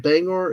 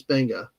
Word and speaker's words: Bangor: Instead of bangor, it's banga. Oh, okay. Like banga mean.